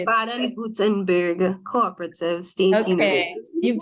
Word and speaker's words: Baden-Württemberg: How do you pronounce it? How do you say it? Baden-Württemberg Cooperative State Okay, University.